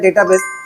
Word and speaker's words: database: आप लोग यहां पे इसे डेटाबेस बोल दो या फिर डाटाबेस बोल दो यहां पे स्पेलिंग में कोई चेंजेज नहीं होगा सिर्फ यहां पे किसका उसका प्रोनंसिएशन अलग-अलग है तो यहां पे इसका